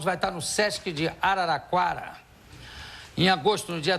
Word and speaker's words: Araraquara: You ever been in Araraquara?